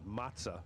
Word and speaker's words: Mazza: Tony Mazza, or is it Mazza? I would actually pronounce it Matza, since it's a double Z. Like pizza.